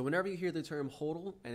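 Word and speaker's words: HODL: you hear the term Hodel and it's not pronounced Hottel it's pronounced Hodel you'd say all the same letters the same way you're just flipping them around if you see someone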